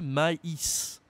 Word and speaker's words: maïs: existe en français et ça va changer la prononciation et aussi le sens du mot par exemple je peux dire en français le maïs le maïs de Corn